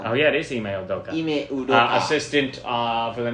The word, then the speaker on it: Ime Udoka: That's how you spell it. Oh yeah, it is Ime Udoka.